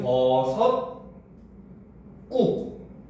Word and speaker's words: 버섯국: 그다음 자 그러면 이제 여기서 얘가 발음이 어떻게 돼? 버섯국. 그렇죠? 얘는 버섯 꾹. 요렇게 됩니다. 알겠습니까?